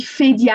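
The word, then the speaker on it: Phédia: Je vais mentionner que mon prénom, on dit Fédia avec le PH en français qui se prononce F.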